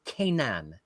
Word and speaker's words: Kanan: Uh, the people of the chat who I confer with very closely in these situations say that it is pronounced Kanan. Kanan Kanan.